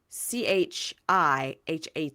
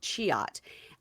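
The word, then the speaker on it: Cihat: His friend's name is Chiat, Chihat, but pronounced Chiat. I wrote it down phonetically.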